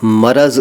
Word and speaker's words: मरज़: और अब एक वचन वाले शब्द का ये है कि मरज़ को नादान लोग मर्ज़ बोलते और लिखते हैं।